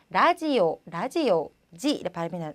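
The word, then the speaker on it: ラジオ: 보니까 우리 라디오라고 하는데 일본식으로는 라지오지 발음이 나서 라지오라고 한다는 것.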